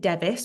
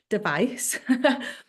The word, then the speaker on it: Device: name was Allison device some people pronounce it devis but I'm a wyb and I don't device and she was walking